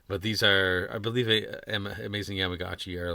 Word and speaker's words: Amazing Yamaguchi: Yes, Amazing Yamaguchi. This really cool looking Batman Beyond figure. I know. It's just. I love this. It is very awesome. But these are, I believe, Amazing Yamaguchi are like in the $150 range, if I'm